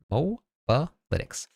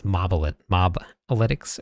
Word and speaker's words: Mobalytics: said that it was Mobalytics or something. I think that's what it was. Yes. But it's not. It is MOBA because it originated from MOBA games and they did analytics for all of the builds in the games.